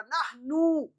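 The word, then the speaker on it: نحن: तो पेश को ऊ के साउंड के साथ पढ़ेंगे, ऊ खींच के थोड़ा, नहनु।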